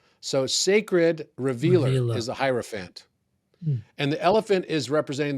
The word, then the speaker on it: Hierophant: Everything, once you go into this stage, we're now in what's called the Hierophant stage in tarot, which is represented by the elephant. It rhymes with Hierophant.